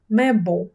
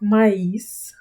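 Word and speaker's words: mais: Читається правильно ме. Не читайте, будь ласка, це як маїс, тому що є таке слово маїс. Над літерою і пишеться дві крапочки. Схоже на українську читається маїс. І це кукурудза. Кукурудза. А сполучник Ано читається ме. Як український звук мед.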